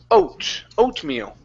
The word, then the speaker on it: oatmeal: Pronounce that T. Oatmeal. Oatmeal. Oatmeal. Oatmeal. Almost. So it's not it's oatmeal. Oatmeal. There you go. That's better. That's better. Now, what you hear sometimes when we speak is a swallowed or a stopped T. Okay, like oatmeal. Okay, but I'm still pronouncing oatmeal.